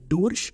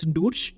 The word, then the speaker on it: durch: Till then I know that that word is pronounced as Durch. It is pronounced as Durch. But when you actually come into the market, when you hear how the Germans speak, they speak it like Deutsch.